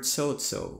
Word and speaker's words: chocho: And the glota completely changes words. For example, the word sozo without the glota means to eat. However, if you add the glotas to tsotso, you would get tsotso. Did you hear it? Did you hear the split second stops? Tsotso, by the way, means to work.